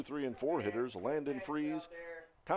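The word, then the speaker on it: Frize: Landon Freeze, the batter, spells his last name F R I Z, pronounced Freeze.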